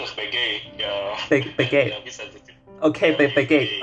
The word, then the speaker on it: Baguette: Young is pronounced as Baguette. Yeah. Baguette. Yeah, okay, Baguette. Okay, got it. Baguette. Don't have the T sound, just Baguette.